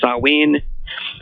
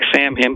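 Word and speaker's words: Samhain: is one of them they call it saen it's spelled s a m ha a i n looks like Sam him but it's really pronounced sawe it's a a scotch gelic word but anyway uh they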